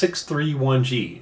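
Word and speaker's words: 6-31G: but by the way you pronounce this 631g it's not 631 there's no 31 anything there's a three and there's a one okay so that's uh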